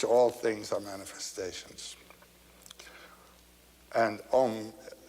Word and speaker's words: Om: written a u m you start in the back of the mouth ah and then o you fill the mouth and M closes at the mouth and when you pronounced